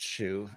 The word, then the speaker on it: Hsu: making a reference to my last name which is pronounced shoe but in terms of